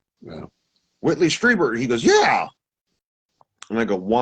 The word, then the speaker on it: Strieber: Strieber. You speak German. I-E, remember, E is the vowel you want to touch. Strieber.